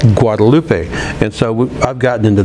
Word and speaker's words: Guadalupe: the University of Texas, most people call it Guadalupe, but it's pronounced Guadalupe. Guadalupe.